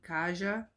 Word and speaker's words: Kaja: You pronounce it Kaja? Kaja? Kaja? K-A-J-A? Kaja? Like Asia. With a K.